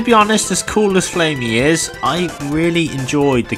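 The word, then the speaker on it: Flammie: So let's get flamey. I'm going to say flamey. I keep saying flammy. I'm not sure how you say it. I'm sure it's flamey anyway.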